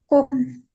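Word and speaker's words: Kuchen: ya kus itu karena kalau yang lain kadang dibaca h ya contohnya kueeh bagaimana baca kue Kuhen kuhen memasak kohen kohen.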